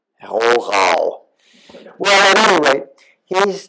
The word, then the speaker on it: Rohrau: should say, of Rohrau, which is one of those German words that separates the wheat from the chaff if you try to pronounce it the way a German speaker would. It's got two German R's in it.